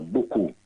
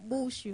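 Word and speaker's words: buchu: That's what them pronounce it in England, but in South Africa, buku. You know how we talk, buku. Bushu. It's more like a black thing, buku.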